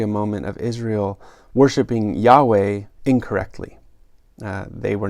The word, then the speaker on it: Yahweh: of god which is spelled with the consonants yhwh yahweh and so he actually